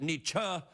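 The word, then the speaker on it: Nietzsche: Portaotties shouldn't fly or perhaps should say now some people pronounce it nichi others pronounce it niche I usually go with what his friends called him which was nich dog I know what you're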